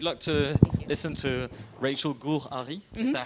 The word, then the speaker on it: Gur-Arie: So we have the great luck to listen to Rachel Gur-Arie. Is that how you pronounce it?